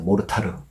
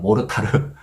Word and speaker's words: 모르타르: 페이스트에 모래를 섞은 거 요걸 우리가 몰탈이란 그러죠 모르타르 약간 일본 발음이 들어가면 모르타르 예 그다음에 거기에 또